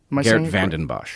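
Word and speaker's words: Geert Vanden Bossche: Geert Vandenbosch.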